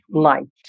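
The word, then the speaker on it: night: আই আচ্ছা দেখো এন আই জি এসটি এটা কি উচ্চারণ করব? নাইট নাইট বোঝা গেল?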